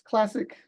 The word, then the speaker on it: CLSC: What we pronounce as CLASSIC, the acronym.